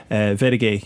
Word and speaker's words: Wedage: You're Bernard Butler and Taxila Vedage, you're both up on that, and that's spelled WEDAGE.